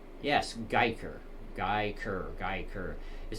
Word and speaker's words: Guyker: I keep wondering if I'm pronouncing that name right. Yes, Geiker. Geiker. It sounds like a weird name, but yes, it is Geiker.